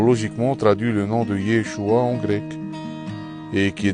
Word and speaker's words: Yeshua: Donc le nom de Yehoshua en araméen était écrit et prononcé Yeshua.